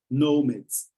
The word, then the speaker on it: nomads: And guys, remember the pronunciation. It's like there is a W in the middle, okay? No. Nomads.